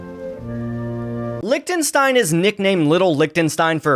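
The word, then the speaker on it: Liechtenstein: place called again lichenstein it's lichenstein and yes after recording this video I did learn that it's pronounced lonstein everybody laugh at the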